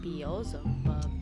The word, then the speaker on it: Beelzebub: That's how you pronounce the name. Beelzebub.